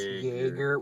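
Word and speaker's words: Jaeger: and it's the terms there's joerger which it's basically pronounced how it sense Jagger which is the giant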